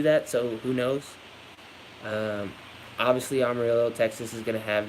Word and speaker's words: Amarillo: Amarillo. It's got double L, so I pronounce it rolled like that.